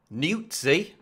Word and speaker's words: Nuzzi: Well, it appears as though Olbermann is coming to the aid of his fellow leftist establishment media hack, Olivia Nuzzi. There, I pronounced it correctly, okay.